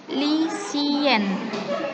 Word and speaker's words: lycéenne: Tahu ya cara perbedaan membacanya seperti ini. Feminin, lycéenne. Lycéenne. Untuk maskulang, lycéen. Lycéen.